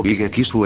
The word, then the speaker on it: Big X: Big X. O Bigekisu en su pronunciación local, fue un manga en